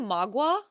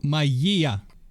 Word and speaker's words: magia: their practice itself becomes magia, or magic. Wait, did you say magua? No, maya. So it's the no. The other one, magia.